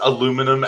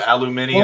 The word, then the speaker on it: aluminium: no it's the metal internationally is called aluminium that's how it's pronounced that's how it's spelt